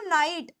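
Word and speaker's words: night: मैं लि लिखती हूं नाइट जी एच आ रहा है नाइट के अंदर है ना लेकिन यहां पर ये जी एच साइलेंट है लेकिन अगर मान लो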